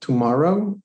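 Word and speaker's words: TMRW: been following over the past three years called tomorrow and it's spelled pmrw and they're making big inroads in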